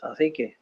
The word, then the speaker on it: Cacique: There's a 2nd crown that's called, I can't pronounce it, it's CACIQU. Cacique.